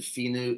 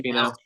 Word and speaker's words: Finau: You mentioned Finu. Is that how you say it? Finu? Tony Finau. Finau.